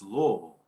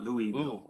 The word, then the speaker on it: Louisville: in trouble for is if you mispronounce the name of the town was louisville not louis don't want you to